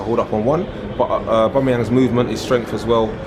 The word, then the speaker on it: Aubameyang: You don't do the yang or yang or whatever at the end, it's yong.